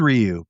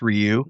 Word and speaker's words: Ryu: Well, it is Ryu because Capcom told me it's Ryu. I've heard people say, you know, tomato tomato, but they said it's pronounced Ryu and it's not haduken.